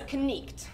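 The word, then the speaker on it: knight: It is knicht, and that's how it originally started.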